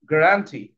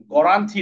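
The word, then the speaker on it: guarantee: রইটি তাহলে কি হল গ্রান্টি গ্রান্টি গ্রান্টি গ্রান্টি গ্রান্টি গান্টি না গ্রান্টি গ্রান্টি ঠিক আছে গ্রান্টি গ্রান্টি এভাবে এভাবে ভেঙ্গে ভেঙ্গে পড়তে শিখবো ইনশাআল্লাহ।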